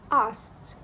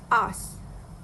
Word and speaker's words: asked: The standard pronunciation is asked, but the speaker said it as asked. The speaker dropped the k sound in the pronunciation. This is a classic case of consonant cluster reduction, where the s, k, and t sound is simplified by leaving out the k to make it easier to pronounce.